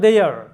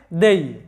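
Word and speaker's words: they: লক্ষ্য করো দ্বিতীয় কলামে কে যুক্ত হয়েছে বাংলায়, এবং তৃতীয় কলামে লক্ষ্য করো দেয়ার, তাদের, তারা থেকে তাদের।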